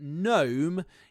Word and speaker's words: gnome: So we've got the G sound is used to form the alliteration, but gnome is not part of the alliteration because, of course, it has a silent G at the beginning.